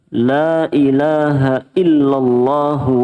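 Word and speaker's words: lā ilāha illallāh: Bagaimana Lailahaillallah Allah illallah jadi tidak ada huruf wawunya jangan illallah begitu illallah itu berarti ada wawunya illallah lam langsung lam illallah lailahaillallahu wahdahu la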